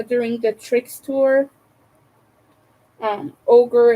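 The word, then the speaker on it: ohGr: the tricks tour um ogre it's spelled o hgr it is um skinny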